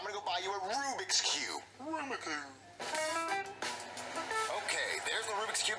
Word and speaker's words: Rubik's Cube: roommate are you saying Rubik's Cube no Aruba cube is pronounced Rubik's Cube no it's a Rubik